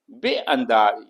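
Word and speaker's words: بینداز: बेअंदाज, इसमें अलिफ नहीं लिखा गया है, लेकिन आप जब बोलेंगे तो उसमें अलिफ प्रोनाउंस करेंगे। बेअंदाज यानी डाल दो या डालो।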